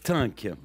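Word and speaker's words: Thync: Oui, ça s'écrit pas pareil. Ça s'écrit T-H-Y-N-C. T-Y-N-C, donc j'ai pu être dû en français, c'est Tink. Voilà, Tink.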